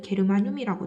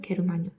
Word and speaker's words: 게르마늄: 저마늄, 또 다른 발음으로는 게르마늄이라고 돼요. 저마늄, 게르마늄.